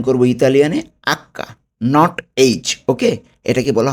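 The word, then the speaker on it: acca: এইচকে আমরা কি উচ্চারণ করব ইতালিয়ানে? Hakka, not এইচ। ওকে? এটাকে বলা হবে আক্কা।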